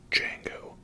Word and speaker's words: Django: Next up from 2012 we have Django Unchained. The D is silent, hillbilly.